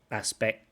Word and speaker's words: aspect: And another aspect is the Aspect, again, aspect has a cut and a t, aspect.